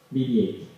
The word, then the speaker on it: BB-8: Pronunciado en inglés, BB-8.